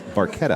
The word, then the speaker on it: barchetta: it what about that I've always heard him say bartetta oh the proper an alien Italian pronunciation is barquette oh my gosh he's